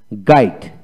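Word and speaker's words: guide: তারপর guitar guitar, গার্ড GUARD গার্ড গার্ড, গার্ড বানানটা হচ্ছে GARD গার্ড, একটু দীর্ঘ উচ্চারিত হবে গার্ড গার্ড। তারপর আসেন গাইড GUID গাইড, গাইড বানান কি JID গাইড গাইড, রশ্মি হালকা উচ্চারিত হবে।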